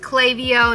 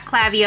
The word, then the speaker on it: Klaviyo: I just learned that it's pronounced Klaviyo, not Klaviyo. I've been calling it Klaviyo.